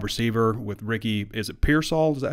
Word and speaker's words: Pearsall: then a wide receiver with Ricky, is it Pearsall, is that how you say it? Yeah, Pearsall.